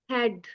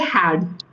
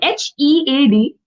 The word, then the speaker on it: head: Earlier you said had. HAD is how you pronounce it. You forgot the E completely. Wrong. Here in HEAD, A has no priority. head, E is the hero of this word.